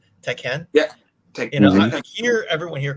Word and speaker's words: Tekken: like how you say I like how you say teeken the right way that's how my cousin says it teeken yeah I hear everyone